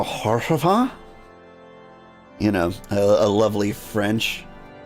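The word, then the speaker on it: Haurchefant: Hersheyfont is how I pronounce it most of the time. I think I go Horshafant.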